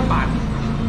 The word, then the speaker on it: 粄: 这就叫板啊，客家话叫板，普通话叫粉啊。